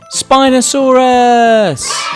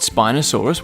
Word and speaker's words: Spinosaurus: let's learn all about Spinosaurus how do you say that again spy no saw Russ can you say it with me spy no saw Russ do you know how